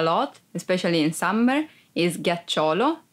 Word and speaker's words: ghiaccio: Ghiaccio, ice. Be careful because if you don't pronounce G as an hard sound like G, it would be giaccio, that it's a verb and means lie down.